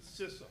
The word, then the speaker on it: CISA: We actually pronounce it CISA. CISA, thank you. I've been corrected.